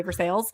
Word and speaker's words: Versailles: me uh we have North versales however that's spelled like Versailles it should be Versailles but or Pittsburgh so we say for sales so I want to